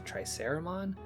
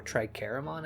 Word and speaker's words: Triceramon: We just had a moment together where Agumon digivolved to Triceramon, or Tricaramon as I heard it pronounced.